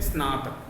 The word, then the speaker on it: स्नातक: स्नातक, स्नातक नहीं बोलेंगे, स्नातक, जैसे स्कूल आधा सब, तो ये स्नातक। अब आ जाते हैं स्य।